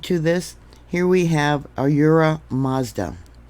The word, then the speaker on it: Ahura Mazda: Here we have Ahura Mazda. Yeah, Mazda like the car.